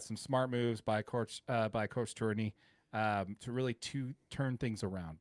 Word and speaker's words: Tourigny: That just tells me we got some smart moves by Coach Tourigny to really turn things around. By the way, I've heard the G be silent in his name, Tourigny. Yeah, Tourigny.